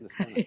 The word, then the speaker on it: Niskanen: He's the chief counsel of Niskanen, did I say it right? Yes, Niskanen, very good.